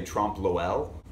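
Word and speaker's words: trompe-l'œil: theme of margella's the trump lul i usually try to find some kind of happy balance between the french pronunciation and the english pronunciation and it's really hard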